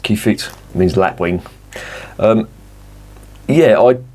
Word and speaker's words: Kievit: eight triple from Brewery the key feed I think I say it's pronounced key fit means lap Wing um